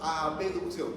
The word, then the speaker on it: abducción: La B se pronuncia.